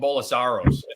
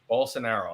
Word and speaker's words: Bolsonaro: name again because I I call him bolasaros but it's not Bola it's full scenario bolsonaro okay and uh Lula he's